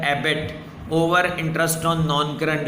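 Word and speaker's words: EBIT: तो इसको प्रोनाउंस किया जाता है Abbott, earning before interest and tax over interest on long term डेट्स.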